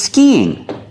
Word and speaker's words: skiing: We see the sound E two times. Skiing. We have to link these two vowels with the sound y.